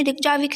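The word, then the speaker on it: Reykjavík: तो आइसलैंड जो है गाइज, इसकी राजधानी रिकजाविक है। रेकजाविक बोलो या रिकजाविक बोलो, जो भी आप प्रोनाउंस करो।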